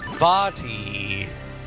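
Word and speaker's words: Vaati: He's so cute, and his name's pronounced with an E sound, so I think that counts." Vati.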